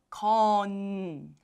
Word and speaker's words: 건: You see there's ko. And there's niun as a final letter, final consonant. So it becomes kon.